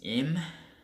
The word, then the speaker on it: Im: We find out that his name is Im. It's spelled I-M, Im, and he can potentially be the king of the world.